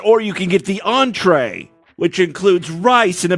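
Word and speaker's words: entrée: So, how do you pronounce that again? Entree. Entree? Yes. All right. So, like, when I asked you the first time, when I said entry, you didn't know what it was at all, right?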